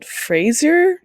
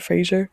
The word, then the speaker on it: Fraser: for best Brendan Brendan he pronounce it Frasier not Fraser is it Fraser movie